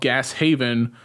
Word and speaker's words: Gas Haven: uh notes on amazon the service station is called gas haven which rhymes with wes craven okay i mean